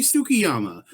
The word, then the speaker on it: Tsukiyama: Skiyama. It's like the T is TSU. Yeah, well, then it should be Tsukiyama, but whatever. Like, the dog Shih Tzu. It's the same kind.